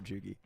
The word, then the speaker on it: Chugi: You got to do a hard G for Chugi.